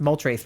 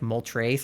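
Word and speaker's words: Moltres: and mol trce but I pronounced mol trce wrong because I didn't know it was like mol trce I thought it was like moles or something um so I pronounced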